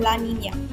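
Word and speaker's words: La Niña: what what is that they're pronounced as El Nino and La Nina this translates to the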